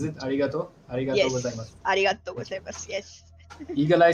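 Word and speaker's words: ありがとうございます: Arigato gozaimasu.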